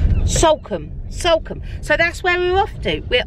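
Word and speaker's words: Salcombe: out what's it called sulcum sulcum so that's where we're off to we're off to sulcum not somewhere no no it's it's s-a-l-c-o it's salcam so yes anyway however you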